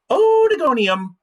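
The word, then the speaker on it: Oedogonium: a little bit more lighthearted and it is pronounced odigonium so look at the word and say it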